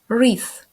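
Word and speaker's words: wreath: chimne вінок на двері re у цьому слові ми не читаємо літеру w re Інколи він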